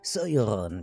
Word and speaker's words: Sauron: Et donc ici, une théorie qui prétend que Halbrand serait en réalité Sauron, puisqu'il faut le prononcer comme ça.